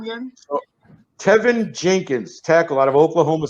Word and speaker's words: Tevin: Oh, his name is Tevin, not Kevin. It's Tevin, not Kevin. Teven. It's Tevin. Tevin Campbell. Like Tevin Campbell, but Teven.